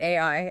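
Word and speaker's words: 愛: He points out that if you want to write the Japanese kanji for love, which is pronounced a 18, right? Ai, ai, you must use exactly 13 strokes.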